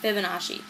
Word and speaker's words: Fibonacci: um fi FIB Fibonacci I've been saying their name wrong Fibonacci um their name is Leonardo Pano Fibonacci and